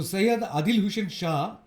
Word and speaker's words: সৈয়দ আদিল হোসেন শাহ: যার কথা আগে বলছিলাম সে উচ্চারণ করা হয় সেখানে আমরা বলব শাহ তো সৈয়দ আদিল হোসেন শাহ তার তিনি ছিলেন রোজগিরি দিনে মোটামুটিভাবে 300 টাকা রোজগার করতেন ঘোড়া ভাড়া দিয়ে পর্যটকদের।